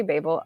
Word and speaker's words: Babel: RF Quang she says I'm gonna say Babel because that's how Americans pronounce it and she was giving it in Oxford so she said but you can say Babel I'm not British so